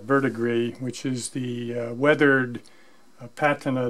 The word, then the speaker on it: verdigris: working on how to produce the vertebrae and that's how you pronounce that vert agreed which is the weathered